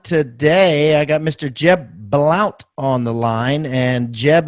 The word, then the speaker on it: Blount: And by the way, my last name is pronounced Blount, although it's spelled B-L-O-U-N-T.